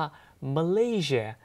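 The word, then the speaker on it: Malaysia: อย่า ลืม นะ ครับ ภาษา อังกฤษ ก็ ต้อง ออก เสียง ว่า มัน ลี่ เชียร์ ซึ่ง ประเทศ มะลิ เนี่ย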